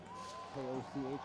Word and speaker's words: Koch: K-O-C-H, but pronounced Koch.